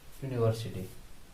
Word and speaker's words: university: এম a student of ইউনিভার্সিটি। I am a student of university. আমি একটা বিশ্ববিদ্যালয়ের ছাত্র। তাহলে দেখো ইউনিভার্সিটি কি বলেছিলাম না, উচ্চারণ ইউ কিংবা ওয়া হলে, যদিও শব্দটা ভাওয়েল দিয়ে শুরু হয়েছে, তবু তার আগে এন না বসে এ বসবে।